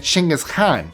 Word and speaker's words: Chinggis Khan: His name would have been Chinggis Khan. That's how it's pronounced in Mongolian.